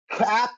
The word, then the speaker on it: Kape: It's Cap. It's fine. Cap. Cape is cooler, but we'll go with Cap.